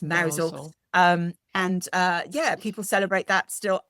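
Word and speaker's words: Mousehole: And there's a big celebration in Mousel, which is spelt mouse hole, but it's pronounced Mousel.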